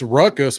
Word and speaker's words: Raucous: Yeah, it's Ruckus, but it's spelled raucous, like a dog going raw, Oh, okay.